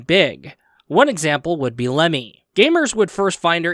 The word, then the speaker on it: Lemmy: They will go about and say the character's name is pronounced Remy and spelt Remy. But, however, when it came to the lovely Lemmy Pachinko machine, we basically ended up finding out the hard way that her name is actually supposed to be spelt Lemmy and is pronounced Lemmy. Yeah, I know.